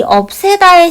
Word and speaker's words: 없애다: 근데 우리가 발음형이 어떻게 되냐면 이 없애다의 시옷이 뭘로 교체가 돼요? 쌍시옷으로 교체가 돼서 발음을 합니다.